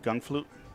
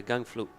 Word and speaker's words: Gangflot: in favor of espacito how do you pronounce his name gun flute yeah gang flute i'm glad you told